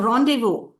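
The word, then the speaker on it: rendezvous: So rendevu re nde d e z v o us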